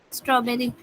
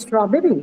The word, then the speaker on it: strawberry: doubt anything can you tell me the stress in strawberry sorry strawberry and strawberry strawberry you will mark it on the first word sorry first thank you um is